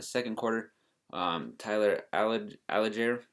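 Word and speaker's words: Allgeier: quarter um tyler allen alager is how you say it had a 42-yard touchdown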